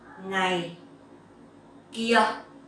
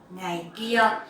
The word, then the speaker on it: ngày kia: Ngày kia. So dấu huyền and no tone. Ngày kia.